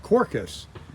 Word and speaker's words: Quercus: so you're looking at the Rattan or ratton corcus uh that's how they say it right there and it is